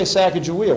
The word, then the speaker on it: Sacagawea: about those things and you notice i say sacagawea when we were in north dakota we said chicago and that was the pronunciation used there by the mandan hidatsa arikara people we're here in the